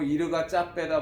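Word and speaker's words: Yirgacheffe: 이 에티오피아 같은 경우도 그 뒤에 붙는 게 보면 얘가 체프 지역이다. 뭐 현지인 발음은 뭐 이르가 짜빼다 뭐 그러는데, 그럼 우리는 그냥 일반적으로 얘가 체프로 통칭하고 있으니까 그냥 그렇게 보시면 돼요.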